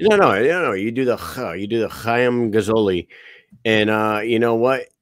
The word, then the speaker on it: Chaim: I don't even know how to pronounce the I think it's Chaim. Chaim Gazzoli. That's the proper way to say it. Chaim. Yeah, that's not even making fun. I'm pretty sure that's how you say it.